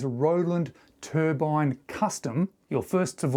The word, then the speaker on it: Hruodland: It is pronounced Hruodland. R-O-D-E-L-A-N-D almost, Hruodland.